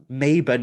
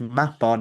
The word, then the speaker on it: Mabon: Because if anything, by telling you that actually Mabon is pronounced Mapon and he's a god